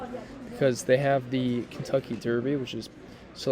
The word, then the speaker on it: Kentucky: Kentucky comes out very nice. Those are like just sounds that are easy for me to pronounce. It's Kent, and then Ucky, Kentucky.